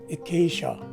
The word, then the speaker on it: acacia: in the philippines so once again this word is pronounced as acacia and there you have